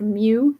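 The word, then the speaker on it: μ: I believe this is pronounced mu.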